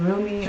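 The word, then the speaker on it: Rumi: poem here real quickly this is from roomie or Remy depending on how you pronounce it he was 13 to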